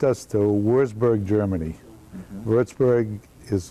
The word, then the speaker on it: Würzburg: Würzburg is how it's pronounced, and that's the home of the Würzburger beer that you see in this country a lot.